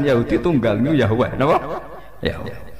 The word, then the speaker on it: Yahweh: Yahweh. Iku nak teng ejaan Latin Y besar, A H besar, W E H besar, Yahweh.